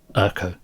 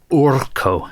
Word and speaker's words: Urko: He's just Urko. Or Urko, depending on how you choose to pronounce it.